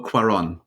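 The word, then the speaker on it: Cuarón: go pronunciations it sounds like an easy neighbor pronounced but they're the ones that get you Alfonso quarron that's correctly yeah there we go so um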